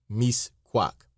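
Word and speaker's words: Mixcoac: An American wanted to see Misquac, pronounced misquac.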